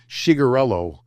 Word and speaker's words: Cicherillo: They say Bob Cicherillo. It's like TSH, like they have a weird spelling for it.